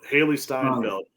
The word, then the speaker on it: Steinfeld: look because I feel like I'm saying her name wrong. I got to look before I get off. It's Haley. I think it's Seinfeld or Siegfried.